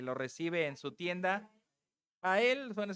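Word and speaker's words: Jael: Aela, se escribe con J, pero yo prefiero decirle Yael, ¿eh?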